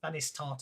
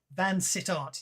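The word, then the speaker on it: Vansittart: chat because someone else can decide the correct pronunciation of this one. Fancy tart. Vanistart or something. Fancy tart. He recognizes. He identifies him as Vanistart. He also he happens to note that he did Van Sittart.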